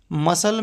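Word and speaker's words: muscle: होता है सी कहां क साइलेंट रहता है मसल में सी साइलेंट रहता है एस के बाद सी साइलेंट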